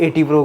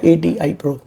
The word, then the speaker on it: ATI Pro: वहाँ पे जाता हूँ, कई लोग ATI Pro को 80 Pro कहते हैं, कोई 80 Pro कहते हैं, तो इसकी राइट प्रोनाउंसिएशन क्या है? लाइक एक्चुअली राइट प्रोनाउंसिएशन है ATI Pro।